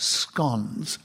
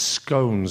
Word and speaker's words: scone: minute starting now well I'm glad that you pronounced it scon Nicholas because as you know a lot of people seem to think it's scones and I don't like that but there's a big